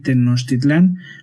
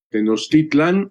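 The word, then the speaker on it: Tenochtitlan: se dice teotihuacán y tenostitlán? No se dice cuautitlán, sino cuautitlán. debe debería de tenerse el acento eh, no en la última, sino en la penúltima.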